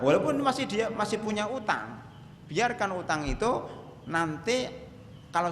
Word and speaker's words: utang: masalah ketiga yaitu zakat utang utang enggak pakai h ya menurut ya menurut ee ejaan bahasa Indonesia yang yang disempurnakan itu pakai utang bukan hutang utang utang piutang bukan